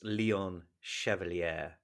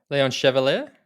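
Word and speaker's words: Léon Chevalier: before we do that how would you pronounce leon chevalier chev chev leon chevalier chevrolet that's it i was putting an extra sound in there i knew i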